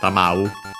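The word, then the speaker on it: 給う: Tamau, actually I think it might be accented. Yeah, it's actually accented. So tamau.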